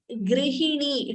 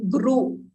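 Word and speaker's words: गृहिणी: So please note the difference between pronouncing this Dru. This is Druhina. D, R and Ukara. So Dru, U should be heard. Whereas this is Grihini. It is not Gru. It is Gr. So Druhina, Grihini.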